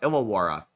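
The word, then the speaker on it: Illawarra: Ilawara. Okay. Ilawa. Thank you. K is pronounced cans.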